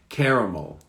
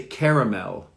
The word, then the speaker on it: caramel: How to pronounce the word caramel. This is a good one. Caramel. America, in the US, they might say caramel. So the L at the end is pronounced.